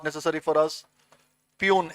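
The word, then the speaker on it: puisne: not necessary for us peon s is silent Pune judges and the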